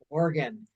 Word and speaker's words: Oregon: It's just like your your spleen or your liver organ.